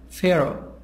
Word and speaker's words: Pharaoh: and o very young Pharaoh Pharaoh H silent P H and F a sad sound Pharaoh king of ancient Egypt